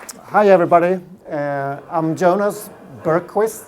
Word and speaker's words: Bergqvist: hi everybody I'm Jonah's Bergquist s-- that's a strange name pronouncing in English when I used to live